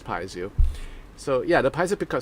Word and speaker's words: piezo: the piezo uh pickups i was corrected about that right so okay i'm gonna make a mental note so it's pronounced as piezo so yeah the pizza